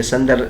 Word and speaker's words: سندر: سندر کا تلفظ فرماتے ہیں کہ سندر سین محملہ یعنی بغیر نقطوں والے سین کے ساتھ ہے، اس کے بعد نون ہے، اور یہ جعفر کے وزن پر ہے.